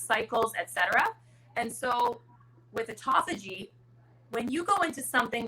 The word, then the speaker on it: autophagy: I don't even know how to pronounce it. Autophagy. Autophagy.